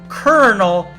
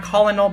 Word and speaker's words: colonel: So, Coronel, so that's actually pronounced kernel, you know, like corn kernel or kettle colonel, I don't know, and not Colonel. It's not Colinel, but Colonel.